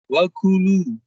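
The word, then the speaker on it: وكلوا: Wakulu. Bukan wakulu, tapi wakulu. Nah, gitu ya. Kalau kaf dengan kof tertukar, wakulu itu artinya makanlah dan makanlah. Apa? Katakanlah. Dan katakanlah. Padahal di sini perintahnya makan.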